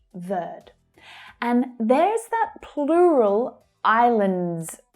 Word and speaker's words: Verde: So the final E on verde here is silent when spoken in English. Verde.